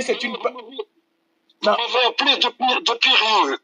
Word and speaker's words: Depireux: Vous m'avez appelé de Pireux. Enlevez le I après le R. De Pireux. De Pireux. C'est de Pireux.